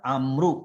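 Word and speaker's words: عمرو: Jadi Amru kalau nggak ada wawunya seperti ini dibacanya Umar. Jadi bagaimana membedakan antara membaca dalam bahasa Arab Amru sama Umar, itu Bapak Ibu kalau Amru ada wawunya.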